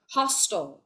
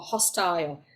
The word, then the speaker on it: hostile: So there are 2 ways to pronounce this word, either hostile or hostile. IELTS British English. What does it mean? Host Hostile, if you prefer Hostile. American English.